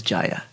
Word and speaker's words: Jaya: so she pronounces it Jaya the Sanskrit and North Indian pronunciation is Jaya right yeah we got